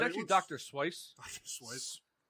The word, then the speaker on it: Seuss: Swice. Dr. Swice. It's actually really how you say it. I read somewhere that I was always under the impression it was Suez.